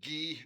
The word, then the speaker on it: Guy: Okay, so in the short story called The False Jewels or The Jewelry, written by a guy named Guy de Maupassant. He's French. His name is pronounced Guy, not Guy.